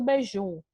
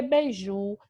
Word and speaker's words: beiju: Mas não, porque beiju é uma palavra oxítona, próprio, porque a última sílaba é a sílaba mais forte.